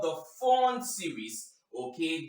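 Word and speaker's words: Pfund: The other spectral line is called the Fawn series. Okay, though it starts with P, the P is silent. The Fawn series.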